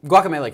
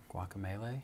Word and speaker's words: Guacamelee: week um well so guacamelee came out on Tuesday right I don't think that's how you say it guacamelee I think it's guacamelee yes well either way